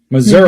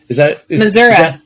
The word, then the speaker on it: Missouri: Missouri. Is that how the locals say it? It is how they say it. And when you don't say it that way, they definitely know that you are not from here.